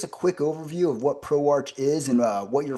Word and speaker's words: ProArch: It's It's spelled as ProArch, uh but it's pronounced as ProArc.